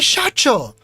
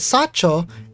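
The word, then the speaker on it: 社長: Insists on calling me Shacho, which she always keeps on pronouncing as Sacho, and my Japanese brain is like, Nandaya.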